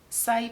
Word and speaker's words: Saie: of it before and again i think i'm pronouncing this one right say say beauty so it's s-a-i-e and there's a couple